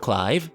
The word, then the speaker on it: Clive: great setup going with clive see i said it i said it right this time not cleave live and seeing how his